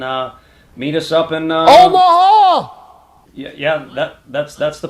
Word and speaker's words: Omaha: coach one more time it's kind of three syllable it's rhythmic right from the diaphragm omaha gotcha gotcha see you in omaha yes yes my ears are hurting omaha you gotta do it three syllables come on not just anyway